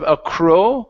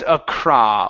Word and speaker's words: across: the garden okay so instead of AOW it's Acra open up your mouth nice and wide Acra across the garden